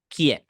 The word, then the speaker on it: quién: Therefore, in this case, you also need to remind that the U is silent. The letter U in this case is completely silent. Silent, yeah. And you should ignore it, okay? Just remember that letter Q sounds like K, okay?